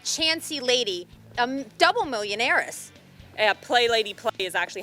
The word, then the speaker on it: Play Lady Play: Play Lady Play is actually how you pronounce her name.